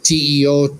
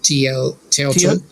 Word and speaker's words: Teotl: since we are closer to this context, the Nahuatl word for the divine spirit is Teo, like Teotl. Teotl. Teotl. Teotl, yes. Teotl. In Anglophone pronunciation, it's more like Teotl.